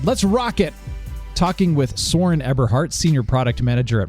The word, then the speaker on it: Soren: Well, you pronounced the Americanized version correctly, which is also in my passport. It's Soren. Okay.